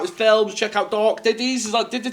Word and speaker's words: Ditties: IMDb, check out his films, check out Dark Ditties. Is that Ditties? Dark Ditties.